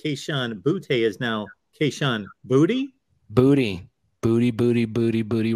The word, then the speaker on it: Boutte: me today that Kayshawn Boutte is now Kayshawn Booty. Booty, booty, booty, booty, booty, rocking everywhere. Okay. Yeah. All right. It's interesting, right? It was Boutte. Mm-hmm. But it's Booty. He says it's Booty.